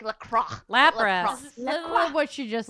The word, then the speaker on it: Lapras: Oh, it's Lapras, isn't it? Lapras. That is Lapras.